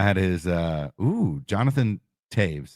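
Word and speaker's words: Toews: his uh oh Jonathan Taves is that how you say it yep the O the OE is name he made it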